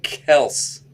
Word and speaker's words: Kelce: All right, let's The get name is pronounced Kels, not Kelsey.